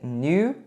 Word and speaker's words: knew: Os Dursleys sabiam, aqui a pronúncia é knew, esse K é mudo, that the Potters had a small son, que os Potters tinham um filho pequeno, small son.